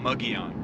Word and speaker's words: Mogollon: to the mugion rim it looks like it's spelled Mongolian or mongolin but it's uh muggy on we've looked it up